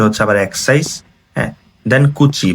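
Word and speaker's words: 口: হ্যাঁ, দেন কুচি বা মুখের কাঞ্জি, এই যে বক্সটা, বক্সটা হচ্ছে মুখের কাঞ্জি।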